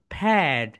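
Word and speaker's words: fad: প্যাড বলি, কিন্তু right pronunciation ফ্যাড। ফা আর অ্যাড, এখানে দেখো ফা। তোমরা তো এই সাউন্ডকে জানো রাইট? ফা, আর এটা হচ্ছে অ্যাড। এই দুইটা মিলে কি হয়ে গেল বলতো এভরিওয়ান? ফ্যাড।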